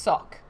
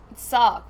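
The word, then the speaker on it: Sawk: answer oh apparently salk is supposed to be pronounced sock so thank you for that poco trout um sock suck you're right sark with an american accent what a great um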